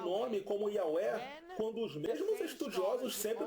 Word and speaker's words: Yahweh: Ele diz que a letra hebraica Vav é pronunciada como V, não como U. Esse erro surgiu devido ao maltrato das gramáticas hebraicas alemãs, que usaram W, onde o inglês usa V. Note que o V alemão é pronunciado como F em inglês.